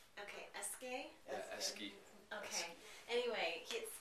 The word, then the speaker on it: Eske Willerslev: Eske Willerslev. Okay, Eske. Yeah, Eski.